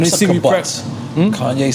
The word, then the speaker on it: kibbutz: Is that the way you pronounce it? Kibbutz? Kibbutz.